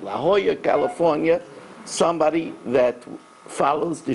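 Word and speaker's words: La Jolla: got a email from I'm not sure if I'm pronouncing it Lola California is that La Hoya right La Hoya California somebody that follows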